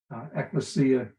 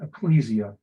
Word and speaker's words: Ecclesia: gospel of the Ecclesia Ecclesia is Greek pronunciation Ecclesia is English pronunciation you'll hear me using